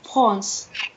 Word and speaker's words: France: On ne dit pas le S. France. Et смотрите, в слове France, France читается, да, la France. А здесь France как Франк. Ну вот то, что было до Франции, да? Поэтому C не читается, France.